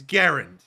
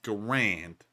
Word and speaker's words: Garand: that's how the guy's last name is actually pronounced get it right everyone it's not the ranch it's Garand all right let me stickler on that from